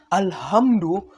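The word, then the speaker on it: الحمد: nih seperti perbedaan pada huruf ha besar dan kecil itu harus benar-benar berbeda loh pengucapannya contoh nih pada surat Alfatihah ada ayat yang berbunyi alhamdulillahiabbil alamin kalau alhamdunya menggunakan ha kecil maka artinya segala puji Tetapi kalau kata alhamdunya menggunakan H besar alhamdu biar kelihatan fasih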